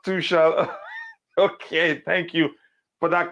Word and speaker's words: Tuchel: this past season, the last 2 seasons, or let me say under Thomas Tuchel, has been, you could say, one of the best in the Premier League, at least.